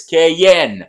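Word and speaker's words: Cayenne: de la Guyane française Cayen a prononcé à l'Algérienne parce que nos anciens connaissent Kayen et nous ont raconté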